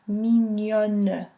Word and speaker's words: mignonne: Mignon, or in the feminine tense, mignonne, pronouncing the N-E at the end.